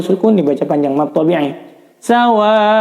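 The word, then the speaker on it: سواء: Sawaun wa, ini mad wajib muttasil, wajib dibaca 5 harokat panjangnya.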